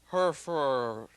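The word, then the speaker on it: Hfuhruhurr: famous and accomplished neurosurgeon his name is Michael herfur that's the way it's pronounced in the film this is the way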